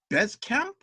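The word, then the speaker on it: Bezkamp: Comics project and I'm going to try to pronounce the title correctly Bez Camp that's right from only press that came out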